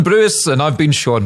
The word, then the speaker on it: Brewis: just leave it there that's been gavis Bruce this GIS two things here I got your name wrong and it also sounded like a TV presenter that's been Gavin bruis and I've been Sean